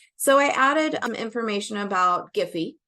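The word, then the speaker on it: Giphy: I added information about giy Jiffy I don't know how people pronounce it I say giy it's a Search tool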